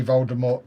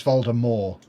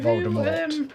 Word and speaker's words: Voldemort: Audible and they say Voldemort correctly on there. It's Voldemort. You don't pronounce the T, but even in the films they say the T. But yeah, the actual pronunciation is Voldemort, not Voldemort.